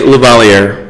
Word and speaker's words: Lavalliere: How do you say it, LAVALLIERE? I say LAVALLIERE. LAVALLIERE, okay.